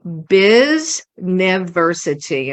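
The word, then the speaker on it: Biznity: website URL so it's Biz nity and I'll spell that for you well it's like it's like University but you take out the U and you replace it with Biz b i z correct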